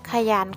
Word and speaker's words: ขยัน: เขา มี ความ ขยัน ขยัน ขอ ไข่ นาม ยอ ยักษ์ ออก เสียง 2 พยางค์ ค่ะ และ คำ ที่ สอง